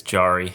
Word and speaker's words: Jarry: Yeah, everybody says Jerry, but it's Jarry. Jarry?